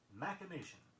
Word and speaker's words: machination: Our next word is sometimes mispronounced because one sound is substituted for another. It is machination, M-A-C-H-I-N-A-T-I-O-N, referring to a crafty scheme or plot.